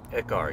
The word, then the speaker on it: Ekar: Shifter, we got Ekar? Is that how you say it? Ekar, yeah.